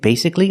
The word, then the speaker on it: basically: chicken wing is it basically a chicken nugget that's right a boneless chicken wing is basically a chicken nugget so that's the rule when you see c-a-l-l-y the a is silent is it always silent